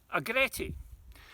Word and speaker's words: agretti: southern scotland recommended this and here we have agretti it's spelled a g r e t t i